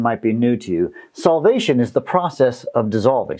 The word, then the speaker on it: solvation: Solvation is the process of dissolving. So that when you dissolve something in something, it solvates. Kind of sounds like the word salvation, but it's solvation.